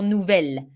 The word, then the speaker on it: nouvel: ordinator but you see in french to avoid this uo which which doesn't make the the pronunciation easy nouveau ordinator we decide to change the masculine form of the adjective and we go for nouvelle a nouvel this works too huh meaning